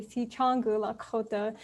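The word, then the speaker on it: Sicangu Lakota: wonderful introduction um yeah to pronounce my tribal affiliation it's actually si changgu la khota i'm actually from denver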